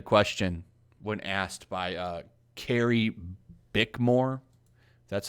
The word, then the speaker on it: Carrie Bickmore: to answer the question when asked by uh carrie bickmore that's how you say her name how do